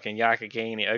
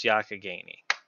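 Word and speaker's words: Youghiogheny: what yak akkanee okay it's spelled y-o-u GH i o GH e NY it looks like it's supposed to just like lifti said u ye o Gainey that was Yakka Gainey I said you go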